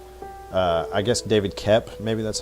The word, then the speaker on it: Koepp: The whole thing, like one of the screenwriters, his name's David Koepp. I guess David Koepp, maybe that's how it's pronounced. It's Koepp, but that aside, the thing I like about